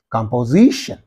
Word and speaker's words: composition: that composition okay composition so cut the word into Sy composition where is this suffix in this syllable so what is the syllable preceding the suffix Z so that's right on this you have to use this stress mark or accent composition composition convers conversation is there so